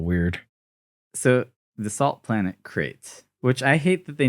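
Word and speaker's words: Crait: I know it's Crate with a C and crate dragons are with a K, but come on.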